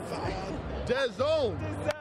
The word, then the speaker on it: DAZN: DAZN. Because you guys spell it so weird, right? It's like DAZN. D-A-Z-N, but it's DAZN.